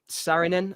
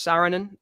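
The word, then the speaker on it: Saarinen: um cinematographer Eric Sarin Sarinin I think you pronounce it. I think it's Sarinin. S A R I N.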